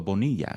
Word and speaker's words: Bonilla: which is and then Bonilla is how they all pronounced it. Bonilla. Bonilla. And then most professional people know me as Bonia. So or or Bonia, you know what I mean?